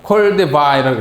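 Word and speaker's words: Koldewey: 또 여기도 콜데바이라고 읽습니다.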